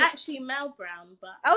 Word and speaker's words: Melle: Okay, I'm gonna read your book, and it's Melle Brown. Is that my It's pronouncing? actually Mel Brown, but Oh, it's Mel I Brown.